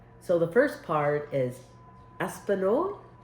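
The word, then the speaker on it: espagnole: don't know but it's e s p a oh e-s-p-a-g-n-o-l and o l e I don't think the the G is you don't hear the G so it's I I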